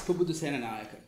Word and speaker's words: Pubudu Senanayake: Pubudu Senanayake. That's pretty close. Could be worse. Could you help me out, please? It's Pubudu Senanayake.